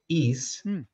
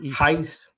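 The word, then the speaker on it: εἷς: In the Greek, the word for one is is, using the modern Greek pronunciation, or heis, if you're using the Erasmian.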